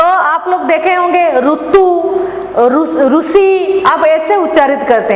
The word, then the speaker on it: ऋतु: हिंदी में रू नहीं होता है, री होता है। तो आप ऋतु को कैसे करेंगे? ऋतु, ऋषि, सृष्टि, इसी तरह हम री उच्चारण करेंगे।